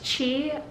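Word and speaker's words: qi: there's something in acupuncture called chi it's spelled q i and basically the idea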